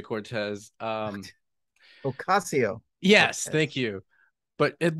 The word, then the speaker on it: Ocasio: I disagree with uh a you can probably pronounce her name better than I can Octavia Cortez um Ocasio yes thank you but at least she's honest